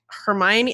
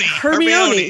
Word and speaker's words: Hermione: in your head, even down to how they pronounce their names sometimes. Yeah. You know, like Hermione.